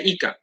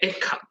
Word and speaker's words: Eka: Kadang-kadang mereka ngelihat nama saya, mereka manggil saya Ika. Oke, kadang nama saya Eka.